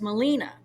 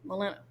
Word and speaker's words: Melina: And if it's pronounced the Greek way, it's Melina. There's nobody Greek in my family that we know of, but they just like the name, and they pronounce it Melinda, like Melinda without the D, Melina.